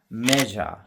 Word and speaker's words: measure: Measure, MEASURE, measure.